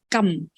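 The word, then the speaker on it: 柑: boxes of Mandarin oranges because Mandarin oranges in Chinese is pronounced as gum gum means go all right so if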